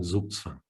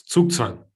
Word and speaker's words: Zugzwang: Look at me mispronouncing Zugzwang. Trying to fit in. It's Zugzwang.